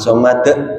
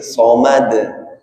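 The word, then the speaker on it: صمد: Itu bukan ahad, tapi ahad. Itu bukan tapi somad, bukan somad tapi somad. Ya.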